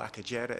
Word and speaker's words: Akagera: woodland there's a big park called acaguera or akagera as it's pronounced in the east papyrus swamps which rwanda